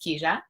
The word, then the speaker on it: Kijia: I also want to talk about Keja. It's pronounced Keja, which is a little bit tricky, but it's a Swahili, in Swahili, it means path.